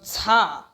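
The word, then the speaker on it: ཛ: it, it will become za. Za, za, za, za, DZ, za. So you need to pronounce D plus Z, za, za, and then wa, wa, W-A, wa, as in wow, wa.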